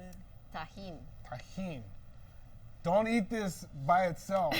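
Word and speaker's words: Tajín: this is how do you say it tahen tahen don't eat this by itself I took a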